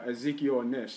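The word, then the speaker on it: Ezekiel Ansah: But there's no Ezekiel Nish, and that's how you say his name.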